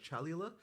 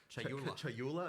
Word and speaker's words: Chayula: So the acolyte of, I always get this name wrong. The acolyte of is it Chalula? Chayula. I always say this wrong.